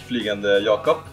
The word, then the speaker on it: Flygande Jacob: Flugan yakop.